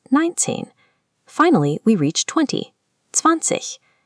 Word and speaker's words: zwanzig: Finally, we reach 20, zwanzig. The IG at the end of German words often makes a soft, airy ich sound.